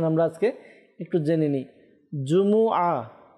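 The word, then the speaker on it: جمعة: আজকে একটু জেনে নেই জুমু জিমের উপরে পেশ মিমের উপরে পেশ আইনের উপরে জবর তো জুমু তো আল্লাহতালা আমাদেরকে সঠিক ভাবে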